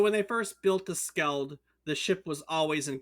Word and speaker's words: Skeld: Is that how you say it, or Skied? Do you know which it is? It's not Skeld. Isn't it an L? Is it Skeld? It might be Skeld. It's Skeld. You're correct.